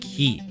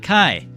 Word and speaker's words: ki: at the cost of ki. Yes, I know it is pronounced as ki, not kai, ki.